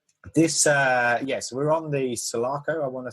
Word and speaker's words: Sulaco: So this, so we're on the Sulaco. I want to say that's how you pronounce it. Correct me if I'm wrong. Yeah, Sulaco, yeah.